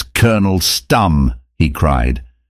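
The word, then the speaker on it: Stumm: grin why its Colonel stum he cried he pronounced it like the first syllable in stomach very pleased to meet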